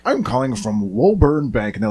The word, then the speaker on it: Woburn: And it was Woburn Bank, which is how we pronounce it in Massachusetts. They're like, I'm calling from Woburn Bank.